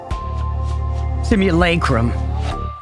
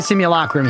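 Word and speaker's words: simulacrum: At least I think simulacrim. Yeah, I think it's definitely similacrim here. Some people might say simulacrim to be fair.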